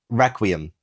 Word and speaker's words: requiem: Requiem, essentially, is the word. Requiem. Well, I didn't know how to pronounce that. I thought it was pronounced requiem. I thought it was requiem.